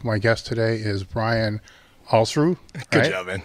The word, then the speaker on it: Alsruhe: It's Alsruhe, like balls without the B and kangaroo without the kanga. Alsruhe.